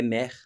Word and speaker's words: mer: E quando a gente fala do mar em francês, mar é mer e é o mesmo som de mãe, né? É escrita é diferente, mas tanto mãe quanto mar em francês se pronuncia mer, tá?